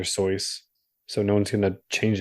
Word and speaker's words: Seuss: moral allegory about racism Dr Seuss's name is supposed to be pronounced soys but no one knows him as Dr soyce so No One's Gonna